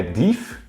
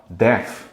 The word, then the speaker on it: deaf: Isso aqui é deaf? Não, deaf.